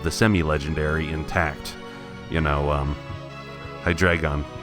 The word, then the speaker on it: Hydreigon: You know, Hydreigon. That's how you pronounce it, right? Because it's based on the German number 3, Hydreigon.